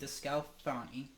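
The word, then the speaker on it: DeSclafani: His name is Anthony DeScalfani.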